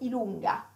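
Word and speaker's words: i lunga: So we got, in English would be J, in Italian it's called Ilunga. Wow, Ilunga. That is different. Yes, it's long I, long I, okay? Long I with a little uphill.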